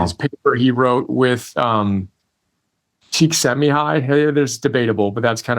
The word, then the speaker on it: Csikszentmihalyi: his paper he wrote with Csikszentmihalyi, there's debatable, but that's kind of how I learned how to say it. Mihai Csikszentmihalyi, with whom he founded the positive psychology movement, completely changed my life.